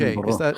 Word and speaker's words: Edinburgh: Edinburgh. Is that the correct pronunciation?